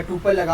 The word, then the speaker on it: tuple: सही है इसको हम इसका जो स्पेलिंग है वो टी यू प एल ई एस है लेकिन इसको हम प्रोनाउंस करते हैं टपल के अच्छा अगर हम